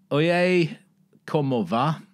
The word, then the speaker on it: Oye como va: Oye, como va? That's how you say it.